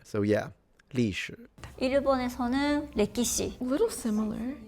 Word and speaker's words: 历史: I used to mispronounce it. For the longest time, I thought the second character was second tone, and I was wrong. It was third. So yeah, 历史.